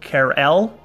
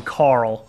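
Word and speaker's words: Karel: also had I think it's actually pronounced care L I actually want to get it right this time as opposed to the stream where I was just being a dick calling him Carl side note if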